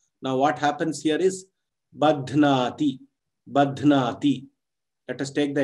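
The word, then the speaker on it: बध्नाति: Now, if I suppose say Badhnati, the teacher will call me and say, you have not pronounced it properly, why don't you stress on the breath on the dhakara to make it a mahaprana.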